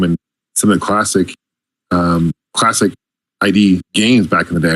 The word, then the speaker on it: id: some of the classic ID games back in the day, right? So, yep, awesome. And the correct pronunciation is everyone always gets it wrong. Everyone says ID.